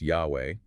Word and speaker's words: Yahweh: The text makes a massive claim about the tetragrammaton YHWH, which is commonly pronounced Yahweh.